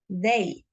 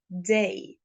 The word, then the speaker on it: day: Or for example, day, day, I don't pronounce they, they. I pronounce day, day.